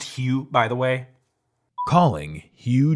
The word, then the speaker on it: Hugh: It's pronounced Hugh, by the way.